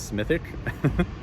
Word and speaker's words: Smithwick: the the Smithwick Brewery which they pronounce smithic they have a great